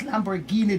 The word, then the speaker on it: Lamborghini: They said I wasn't saying it right, but it's Lamborghini dealership, that's 7865 Roswell Road in Atlanta.